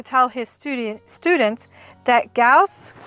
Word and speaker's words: Gauss: gause is pronounced fred goose or fred gauze someone once even called him fred gass fred used to tell his studio students that gauss rhymes with mouse one of his students